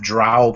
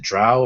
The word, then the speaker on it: Drow: The more recent example was a table of Drow players. Is it Drow or is it Dro? I don't know how you pronounce that. We'll go with Drow. Rhymes with cow.